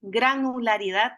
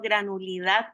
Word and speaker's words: granularidad: lo podemos pronunciar bien yo siempre hago énfasis en que lo podamos pronunciar bien granularidad no granul didad que a veces le